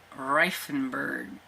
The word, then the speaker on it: Reifenberg: So we have Lenny Among Ghosts, which is by Frank Maria Reifenberg, I believe is how you say his name. And yes, and it's not in a great, like, German pronunciation because I'm not German, even though I may